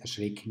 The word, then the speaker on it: erschrecken: Das heißt, erschrecken ist ein starkes Verb. Dann haben wir noch zusätzlich eine Besonderheit bei der Rechtschreibung. Erschrecken schreibt man mit CK nach einem kurz ausgesprochenen E, währenddessen man erschrak nur